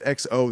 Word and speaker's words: exo: it right there CU it's XO there X-O and that's how he's saying it so that's right I